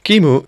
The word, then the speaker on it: QEMU: very slow there's another open source solution called Kimu yes that's how I pronounce it is a type 1 hypervisor meaning